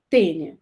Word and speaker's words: Taenia: o gênero da tênia se escreve taenia mas se lê né se fala tênia tá e quais são